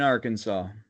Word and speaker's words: Arkansas: AR, Kansas, in Arkansas, Arkansas. you can get punished up to $1,000 and a week in jail for mispronouncing the state's name.